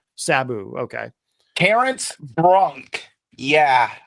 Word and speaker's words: Sabu: What is the correct way to pronounce his name? Sabu.